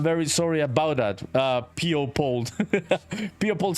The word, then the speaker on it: Pold: My name is actually pronounced P-O Pold.